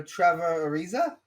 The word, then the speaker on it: Trevor Ariza: timings insane of him getting traded uh for trevor ariza i pronounce that right yeah yeah bro reports forever